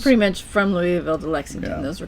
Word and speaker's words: Louisville: So Louisville. Just pretend you have it's like 4 syllables long. That's right. Louisville.